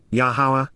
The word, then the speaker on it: Yahowah: And then, Yahowah, Yahowah, the proper pronunciation of the name of Eloah, God has directed in his Torah, teaching regarding